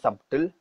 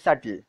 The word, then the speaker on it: subtle: It isn't pronounced as subtle, it's called as subtle.